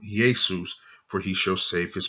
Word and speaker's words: Iesous: There's the pronunciation, Iesous, and as you can see, it starts with that iota, and this little comma here is called a tittle.